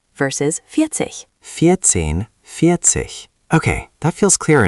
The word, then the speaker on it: vierzig: Vierzehn versus vierzig.